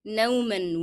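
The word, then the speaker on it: نومًا: Okay, نوما will be pronounced with the sound of N because I connected to the following word.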